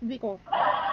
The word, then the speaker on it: Kviku: Kic ba basa dito o Vico? Silent K Vico online loans.